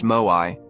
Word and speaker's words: Moai: The locals call them Moai, pronounced Moai.